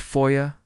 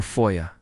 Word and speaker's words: foyer: Please note that Americans, just like patrons on my most recent secret stream, are divided on whether this should be pronounced foyer or foya.